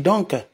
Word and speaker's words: donc: eh ben dis donc on dit ben dis donc on ne dit pas on ne prononce pas le C ben dis donc et ben dis donc